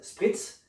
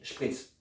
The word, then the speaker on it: spritz: Alors c'est un mot qui vient de l'allemand. Donc tu peux le prononcer à la française, spritz, mais aussi à la germanique, schpritz.